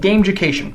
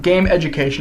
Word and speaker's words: Gameducation: the way it's pronounced game ucation it's just one word it's not game education it's definitely not game